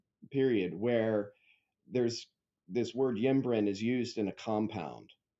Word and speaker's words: Ymbren: ember comes from an Anglo-Saxon word, yimbren, which is spelled Ymbren, yimbren.